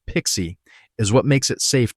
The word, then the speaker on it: PKCE: Let's zoom in on that first flow, because PKCE, pronounced Pixie, is what makes it safe to run on a phone or in a browser.